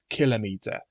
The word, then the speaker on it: kilometer: So therefore, I say that the word kilometer should have the emphasis on the first syllable. Hence, I say kilometer.